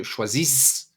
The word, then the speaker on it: choisis: You don't say je choisis, but no, you do not pronounce the last S.